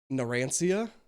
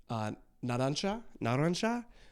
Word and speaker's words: Narancia: I know that's how they're saying it, but then you guys are like, you don't say it like that, you say it like this. So, Narancia.